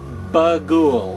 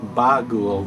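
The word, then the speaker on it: Bughuul: g h uu L although it's they pronounce it in the movie more like Bou than bugou but I don't know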